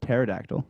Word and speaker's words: pterodactyl: can't you hear a there's a p in front why can't it's like a like we don't pronounce terabyte well actually we pronounce a terabyte so but there's no P involved why can't you hear a pterodactyl going to the bathro from because the p is silent uh they should just